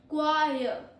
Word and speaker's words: choir: Choir.